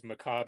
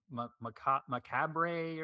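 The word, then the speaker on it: macabre: or either that or you have to uh mispronounce it to make it rhyme because Macob is rhyming with our job.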